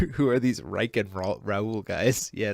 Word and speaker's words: Raul: It's pronounced Raul, but that's fine.